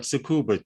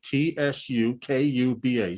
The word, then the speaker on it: Tsukuba: Tsukuba. Tsukuba. Sue. The T is not pronounced Kuba.